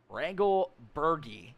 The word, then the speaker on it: Regal Bergie: Is it Regal or Reggle? Regal Bergie is how you say it.